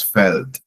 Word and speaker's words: Feld: In German, felt E. There's no I in field. Okay, but it's the same field in English. Okay, so that's felt.